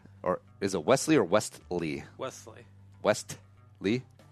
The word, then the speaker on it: Westley: Or is it Wesley or Westley? Wesley. Westley? You hardly pronounce the T.